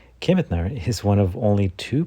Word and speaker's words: Kemetner: Make sure you pronounce it correctly. Kemetner is one of only two producers in our